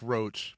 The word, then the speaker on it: Roche: Sounds like a bug, but not spelled. Yeah. Yep. Not spelled like Roche, but sounds like Roche. It sounds like Roche. It sounds like the bug, but we're not the bug.